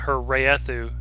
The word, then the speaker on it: Wraeththu: my head right now are Storm Constantine, her Raethu series. There's it's spelled Wraeththu.